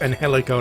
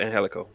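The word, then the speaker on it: Angélico: yeah yeah yeah aaron everyone just pronounces it phonetically when they know they have to they don't know they have to pronounce it like uh like spanish style yeah and guts what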